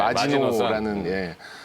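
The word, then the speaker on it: Maginot: 그래서 네, 마지노라는 이제 제목으로 좀 해봤는데요. 저는 마진 넛 이렇게 썼는데. 이 프랑스어입니다. T는 묵음이죠.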